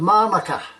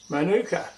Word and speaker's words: manuka: that's made out of manuka. Manuka. Or Manuka? Or manuka, if you pronounce it that way.